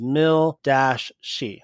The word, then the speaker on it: Milshi: by the name of Milshi Bubs. And in case I couldn't pronounce the name Milshi, they even put it in one of those parentheses that says Mil-she.